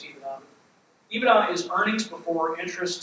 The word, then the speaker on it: EBITDA: You'll hear it pronounced different ways, EBITDA, EBITDA. I use EBITDA.